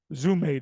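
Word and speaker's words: ζύμη: Zume, the D is silent.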